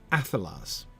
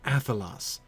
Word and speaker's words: Athelas: the beginning of the first syllable, Athelas, come Athelas, come Athelas. It fits very well with the spondaic feel of the early wines, doesn't it?